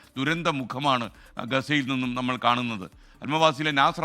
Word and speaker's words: ഗസ: ഒന്നും ചെയ്യാൻ കഴിയുന്നില്ല എല്ലാം നിസ്സഹായരായി നോക്കി നിൽക്കുകയാണ് ഞാൻ ഗസ എന്ന് ഗസ എന്ന് തന്നെയാണ് ഇവിടെ എല്ലാവരും പറയുന്നത് ഗാസ